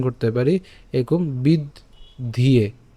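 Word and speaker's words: বিদ্ধ্যে: অথবা বলেছিলাম যে কীভাবে উচ্চারণ করব, বিদ্ধিয়ে।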